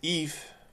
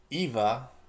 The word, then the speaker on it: EVE: to play as say Eve. This is actually the character I should say Eva because that's actually Wally actually say her name at a bit of spoiler a bit but not that big.